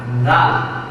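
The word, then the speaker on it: ر: মাখরাজ আবার ছা আর রা একই মাথা আছে জিহ্বার আগার সামনের এই উপরের দুই দাঁতের আগার সঙ্গে লাগিয়ে এই হরফটি উচ্চারণ করবো তবে হরফটি খুব পাতলা নরম লক্ষ্য করো সবাই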